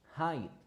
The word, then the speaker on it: height: Just the pronunciation, it is height.